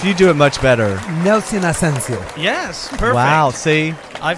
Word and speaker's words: Ascencio: Nelson Ascencio. Yes, perfect. Wow, see? I've had so many people mispronounce it.